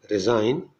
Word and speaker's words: resign: In GN, G is silent, as in resign, consign, benign means kind, foreign, gnaw, GNAW, that means bite, gnash means strike teeth, as in anger.